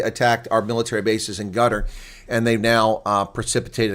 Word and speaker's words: Qatar: People say Qatar. I used to say Qatar when I was younger, but it's guttar. So anyway, no, it's not the way Americans pronounce it. That's the way the Arabs pronounce it.